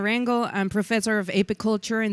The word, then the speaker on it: Rangel: Realel, and she's going to teach you how to say her name correctly. Thank you. Howdy. Good morning again. My name is Rango.